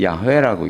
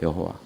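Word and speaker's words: 야훼: 요거를 우리는 야회라고 읽습니다. 야 이렇게 읽어요. 야회. 그리고 영어 발음으로는 여호와라고 읽는 거예요. 여호와.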